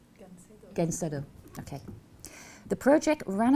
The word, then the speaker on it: Gancedo: Anybody know what the proper pronunciation of that is? Anybody speaks Spanish? No. Yeah, but you said it well. Gancedo.